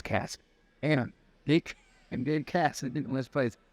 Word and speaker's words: Kass: I know it's Kass. And Gabe Kass. I didn't know his place. I've always just seen this spelled.